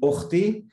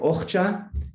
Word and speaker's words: אוחתי: of Hebrew is, and it could pronounce a few different ways. One would be Ochti or Och or Ochcha.